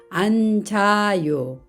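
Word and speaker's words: 앉아요: 안따 이렇게 읽습니다 그러면 몸을 만나면 어떻게 될까요 안자요 니는 그대로 발음이 되고 지은 모음 있는 자리로 이동을 해서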